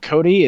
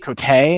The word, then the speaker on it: Cote: about that but yeah it's it's like coat it's like wearing a coat a coat okay cool